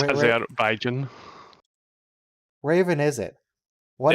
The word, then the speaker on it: Azerbaijan: Is that how you pronounce Azerbaijan? Yeah. It is, as a matter of fact. Wow. Yes. That's Azerbaijan.